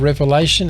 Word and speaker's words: Revelation: I used to say Revelations for so long. But it's just one revelation. Revelation.